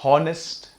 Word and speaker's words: honest: this word pronounced as honest no it is not pronounced as hornets h is silent here it is just now